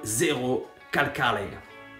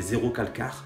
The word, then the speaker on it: Zerocalcare: de Kobane Calling de Zero Calcare. Je prononce à l'italienne, hein, si vous prononcez en français ça fait Zero Calcare, mais je sais pas, ça sonne moins bien que Zero Calcare.